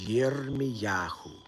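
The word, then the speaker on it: ירמיהו: So in Hebrew, Jeremiah's name is Yirmiyahu.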